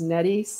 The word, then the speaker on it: Nettie: Nettie says Nettie rhymes with Betty.